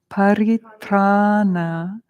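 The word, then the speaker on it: paritrāṇa: Paritrana, everyone. Paritrana. Again, you have the long A and then the N with the dot.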